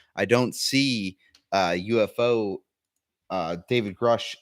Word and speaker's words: Grusch: So it's pronounced Grush.